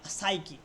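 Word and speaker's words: psyche: যেমন সাইকি সাইকি মানে কি? দেখো সাইকির এই এস দিয়ে শুধু উচ্চারণ হচ্ছে সাইকি। পি এর উচ্চারণটা হচ্ছে না।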